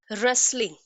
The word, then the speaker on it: wrestling: okay, wrestling, इस spelling के अंदर, इस वर्ड के अंदर भी W साइलेंट होता है, इट is used with R, सो W is silent.